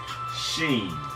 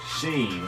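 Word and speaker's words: شين: You put 3 dots at the top of that, and that becomes Sheen. Sheen, like ship, Sheen.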